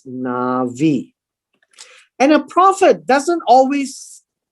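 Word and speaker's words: נביא: avi or uh and this is the word nabi in arabic we call it nabi but in hebrew is is pronounced as navi and a prophet doesn't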